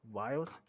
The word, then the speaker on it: viol: They came back with viols? Vials? It's spelled Viol.